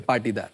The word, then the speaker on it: पाटीदार: जौरा मध्य प्रदेश से पाटीदार जी, सही प्रोनाउंस पाटीदार जी। पाटीदार पाटीदार जी।